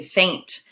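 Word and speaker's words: feint: then we get to faint so this is similar sounding to faint like when you faint and fall over but it's a different word it's spelled differently it's both a noun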